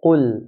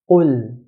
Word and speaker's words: قل: Qaf is considered to be from the 7 heavy letters in the Arabic language. So Arabs will pronounce qaf in a heavy manner. قل.